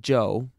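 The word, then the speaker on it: Chou: Joe was amazingly cooperative Joe spell @ch oh you if you want to be exotic it still pronounced Joe and that's his name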